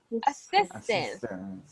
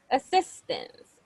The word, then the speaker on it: assistance: assistance so we say assistance the stress is in the second syllable assistance assistant assistant Okay so